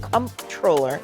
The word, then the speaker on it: comptroller: The role in the name is COMP. Yes. Now, for those of us that have worked in the private sector, we know it's CONNT, Yes. controller.